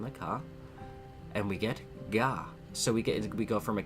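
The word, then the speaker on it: が: You pronounce this as Ga, right?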